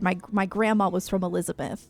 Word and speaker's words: Elizabeth: Like I said, my my grandma was from Elizabeth. Like that's that's like North Jersey. Um and she would pronounce it Elizabeth. Like she wouldn't pronounce the th. She'd be like, "I'm from Elizabeth."